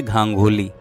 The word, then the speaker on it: गांगुली: जी का जन्म हुआ मैंने उसका उच्चारण धांधली किया था है उसका उच्चारण है गांगुली अलीगढ़ जिले के खैर